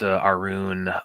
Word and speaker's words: Arun: It's pronounced Arun. Okay. Thank you for clearing that, man. So Arun. Okay. Or Arun. Arun. Okay. Well, that 2 O's is going to give me the Arun.